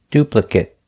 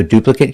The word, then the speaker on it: duplicate: a long a duplicate if it's a verb if it's not a verb we pronounce it with the short sound duplicate so duplicate can be an adjective